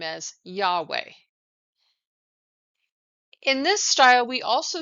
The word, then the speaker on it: Yahweh: name as the tetragrammaton or yhwh traditionally we pronounce this name as Yahweh in this style we also see God depicted